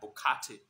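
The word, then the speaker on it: Borkatey: Bokate, B-O-R-K-A-T-E-Y, Bokate. Latte Bokate. That's how they pronounce it, but I think that's how it is.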